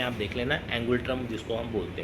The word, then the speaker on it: ngultrum: है थिम्पू, और इसकी जो करेंसी है थोड़ा प्रोनाउंसिएशन में आप देख लेना, एंगुलट्रम जिसको हम बोलते हैं, NGULTRUM।